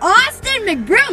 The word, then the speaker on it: Austin McBroom: youtube you guys today i am here with austin mcbroom did i say it right awesome yes you